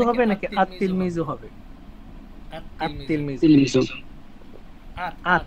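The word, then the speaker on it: التلميذ: আলিফ লাম যুক্ত হলে লাম হরফটি উচ্চারিত হয় না বরং লামের পরবর্তী হরফটি তাসদিদ যুক্ত রূপে উচ্চারিত হয় আল্লাহ অর্থাৎ এই 13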